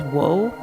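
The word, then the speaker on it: を: That middle character where it says wo, you might hear that pronounced like as O instead. It's kind of like a in between both wo and o.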